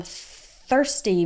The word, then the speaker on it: thirsty: another good one I'm thirsty remember to to do that th with your tongue between your teeth thirsty okay so thir it's just like in the word third like third place third ste ste ste